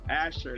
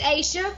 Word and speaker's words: Asia: and first of all asher that's i'm not pronouncing it correctly it's asia it's asia okay i want to